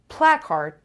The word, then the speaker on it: placard: on the second syllable placard placard placard the stresses on the first level placard placard contagious a